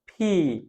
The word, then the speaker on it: P: ফি আমরা যদি আমাদের মুখের সামনে যদি একটা টিস্যু নিই এই টিস্যুটাকে আমরা যদি বলার চেষ্টা করি দেখেন ফি ফি ফি ফি তাহলে যে একটা সাপোর্ট বাতাসে ঝাটকা লাগছে এইটা হলো আমরা ফি